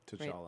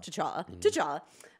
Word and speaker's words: T'Challa: T'Challa. Right? T'Challa.